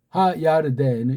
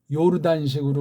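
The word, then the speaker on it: ירדן: 우린 덴 그러는데 걔네들은 덴이라는 삼성 읽기 발음이 안 돼요. 받침이 안 된단 말이야. 그러니까 하야르덴은 이렇게 되겠죠. 이게 오늘날 요르단식으로 우리 한글에 번역되어 있으니 참 답답하죠.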